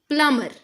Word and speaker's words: plumber: This should be plumber, plumber. B is silent.